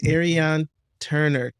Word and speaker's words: Ariane Turner: industry og and a self-proclaimed wellness junkie miss ariane turner said your name right you did you said